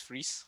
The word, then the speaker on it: Vries: So I really liked how they pronounce my surname, but in other parts of the world, it's Vries, like fries.